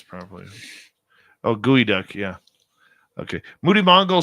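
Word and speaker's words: geoduck: what did I pronounce properly what did I pronounce proun properly oh gooey duck yeah okay Moody Mongol says it's Now official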